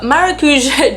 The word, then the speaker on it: maracujá: It is the Tarte Maracuja. I'm not really sure, I've heard it pronounced several ways. In Portuguese it's maracuja, which translates as passion fruit.